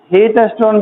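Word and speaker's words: Wheatstone: आधा व को साइलेंट पड़ जाता, ठीक ना। हीटस्टोन ब्रिज कहते हैं।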